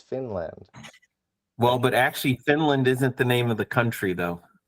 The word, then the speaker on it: Finland: Because Finland is pronounced with a short I. It's not Fiinland, it's Finland.